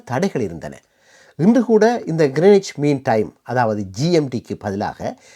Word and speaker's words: Greenwich: பற்றியும் நாங்க பார்க்கலாம் வாங்க நாம் தமிழ்ல இந்த இடத்தை கிரீன்விச் கிரீன் கிரீன்ச் என்று சொல்லிக் கொண்டாலும் ஆங்கிலத்தில் இதனை கிரேனிச் என்றுதான் உச்சரிக்க வேண்டும் ஆரம்பத்துல உலகத்தில் பல இடங்கள்ல